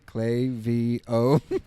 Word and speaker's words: Klaviyo: Yeah, they gave us T-shirts that spelled it out phonetically, Klaviyo. And then we went to their conference in Boston, and I think I had to practice. To make sure I didn't say it wrong. Now I'll never say Klaviyo. Never, it's always Klaviyo.